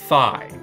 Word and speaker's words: Fi: And yes, it is pronounced Fi.